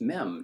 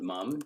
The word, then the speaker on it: mem: I always add an no it's mem not mum don't ruin it sorry